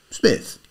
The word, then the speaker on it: Psmith: "Smith." The P is silent.